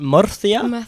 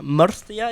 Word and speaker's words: Murcia: Murcia?